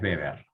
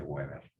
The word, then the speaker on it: Weber: Aclaro, Weber se escribe con W, Weber, pero es Weber, porque es alemán. ¿Sí? No se dice Weber.